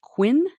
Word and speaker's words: Qvin: Gonna Last and finally the company is pronounced Quinn tell me what qu